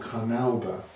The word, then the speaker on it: carnauba: That's called carnauba. That's how we pronounce it.